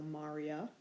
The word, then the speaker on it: maria: before the a so Marya with the accent on the third to last syllable as opposed to the